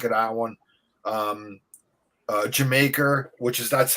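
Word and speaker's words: D'yer Mak'er: really got sick of that one um uh jamaica which is that's how they pronounce it not everybody i used to pronounce the dire maker but like you know robert plan always says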